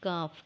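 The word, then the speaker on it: ك: The letter name is Kaf. Kaf sound matches to Qaf. It is a long light sound letter. It is pronounced the portion of the tongue near its base touching the roof of the mouth.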